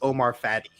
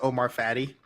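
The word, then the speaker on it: Omar Fateh: I mispronounced his name. It's Omar Fatty.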